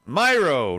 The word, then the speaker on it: Miro: about the best man myro right right rob that's how you say it it's it's myro it's a myro that is uh welcome miro um and we heard